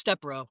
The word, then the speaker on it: Stepro: It's Stepro with the Stepro. accent on the E.